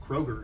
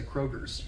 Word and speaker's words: Kroger: Is it How would you pronounce K-R-O-G-E-R? With an S or just? Kroger. It's Kroger without an S. Okay. But a lot of people say Kroger's.